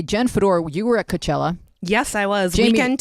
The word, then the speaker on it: Coachella: Am I pronouncing that correctly? No, wait, you're a Coachella. little too Coachella? Syllabically specific. You're too syllabically specific. I thought it was Bey-Chella now. It's You not could say Coachella. Coachella.